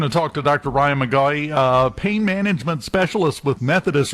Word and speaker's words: McGaughey: It's McGaughey, so I'm Dr. Ryan McGaughey.